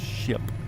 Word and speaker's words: ship: It's not sheep, it's ship. That's how it's pronounced.